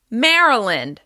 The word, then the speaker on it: Maryland: Maryland. As you can hear, the first syllable is stressed.